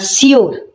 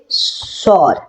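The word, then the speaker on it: sure: সবাই কি করে না সিওর ঠিক আছে এটা বলে কিন্তু সিওর এটা সঠিক উচ্চারণ নয় এর সঠিক উচ্চারণ হচ্ছে সর সর ঠিক আছে তাহলে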